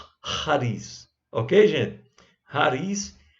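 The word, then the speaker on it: χάρις: graça no original grego ares tá certo essa pronúncia bem as para bem aspirada né charles ok não é shares nem cáries é raiz ok gente rares é o que dá origem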